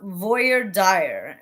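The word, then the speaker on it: voir dire: jury to determ admissibility so it's pronounced Voyer dire and it well I'm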